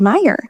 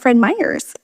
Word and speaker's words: Fred Meyer: He still, to this day, he tries to tell my little one that it's Fred Meyer, not Fred Myers.